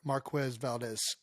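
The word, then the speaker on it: Marquez Valdes: made another violent hit on Chiefs wide receiver Marquez Valdez yes gosh you said it right you said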